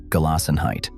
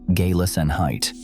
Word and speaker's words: Gelassenheit: Gelassenheit, pronounced gay-lassen-height.